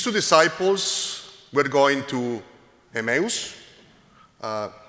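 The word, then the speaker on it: Emmaus: disciples we going to emus uh Greek pronunciation should be emus depends where you pronounce but I trying to do OS to the close to the English pronunciation so these two disciples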